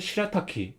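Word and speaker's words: 白滝: 의미로 일본에서 사용해요 그래서 하얀 포포를 시라타키 합니다 그래서 흰은 덕으로 랄하고 있고 그다음에 여은 덕으로 타기라고 읽어요 그래서이 사진이 하얀 폭포인데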